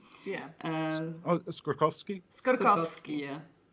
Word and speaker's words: Skorkowsky: Yeah, we have discussed that, and we know that you say something like Skorkowsky, and for us it's Skorkowsky. Yeah. Oh, Skorkowsky?